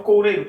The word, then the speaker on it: coureiro: Qual é a posição ou onde aparece a sílaba mais forte? Coureiro, coureiro. Ó, a sílaba mais forte está aqui, ok?